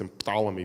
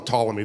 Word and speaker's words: Ptolemy: English we don't pronounce emphalomy because in English we don't like Words that start we call them Ptolemy the p is silent Aaron pankin this is